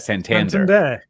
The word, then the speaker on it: Santander: San San Dar how do you say that Santander Santander uh sponsors it now so they're all